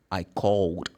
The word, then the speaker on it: called: When you put ed, it's going to be d. So you say, I called.